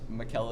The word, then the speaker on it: Michele: And in Italy, the way to say Michael is Michele. So my name is pronounced, even all my friends never really say it right, but it's Michele. It's spelled M-I-C-H-E-L-E like Michael.